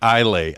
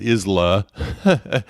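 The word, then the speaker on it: Islay: i had to learn because it looks like i lay i-s-l-a-y and so for a long time i was mispronouncing it calling it isla is lay no it's isla is how that's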